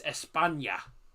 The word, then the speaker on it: España: If you're on about Spain, it's España. It's spelt like that, but instead of OL, just change it to A.